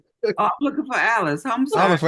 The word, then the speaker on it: Alice: So, that's why call it it rhymes with Dallas.